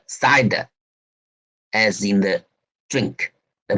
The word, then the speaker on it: CIDR: subletting and is called cidr which is pronounced side as in the string